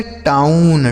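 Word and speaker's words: town: टाउन। टी से ट ओ यू का उच्चारण औ एन से न लिखा है टाउन आगे बी आर ओ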